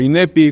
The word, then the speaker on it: INEP: el INEP, que es o INEPI, como pronuncian en portugués, es la instancia que